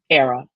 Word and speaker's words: Airea: that ghost I honor say it with me era rhymes with Sarah Sarah from the Latin meaning a